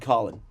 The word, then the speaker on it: Colin: By the way, his name is spelled Colin. He chooses to be called Colin. Which is not a thing I would do.